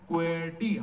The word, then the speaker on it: QWERTY: letters of the keyboard, it reads in this way, QWERTY. This is the sequence. So because the sequence of the key is QWERTY, QWERTY, how is it pronounced? QWERTY.